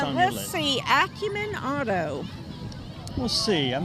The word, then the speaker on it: Acumen: people were concerned about how to pronounce that Acumen or acumin well I say Acumen Acumen yeah that's what I say and I'm sticking to it now that vehicle right